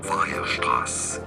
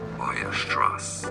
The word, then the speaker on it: Weierstrass: Weierstrass is how it's said in German. Okay, spelled with double S at the end in English. Weierstrass. Well, Weierstrass, I guess, in English.